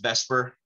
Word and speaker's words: VSEPR: and this is pronounced for whatever reason it's pronounced vesper even though it's spelled the supper pepper sounds